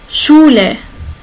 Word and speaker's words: Schule: On va voir ici SCH. Il se prononce comme CH en français. Comme chat, chien. Schule, c'est l'école. Ok?